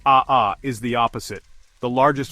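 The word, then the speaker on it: ʻaʻā: Aha pronounced aha is the opposite.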